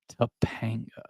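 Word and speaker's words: Topanga: brings you back to tapa you have to say it like that tapaa most guys are age one of our first crushes tapanga right there's one one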